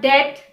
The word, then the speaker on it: debt: The B is often silent when it comes after an M or before a T.